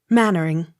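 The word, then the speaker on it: Mainwaring: accent on third syllable m a i n w a r i n g mannering m a j o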